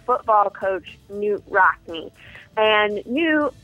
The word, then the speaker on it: Knute: coach Knute Rockne and new actually or canoe I'm sorry that's the way that I learned that it was now pronounce but he actually used